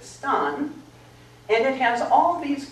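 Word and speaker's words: stān: words so old English has the word that we call Stone they pronounced it Stan and it has all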